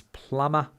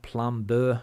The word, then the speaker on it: plumber: here in Spain is plumber the B tends to get pronounced a lot plumber so you're constantly correcting people on that it's not Plum Burr even though there's a b you don't pronounce it and mortgage is similar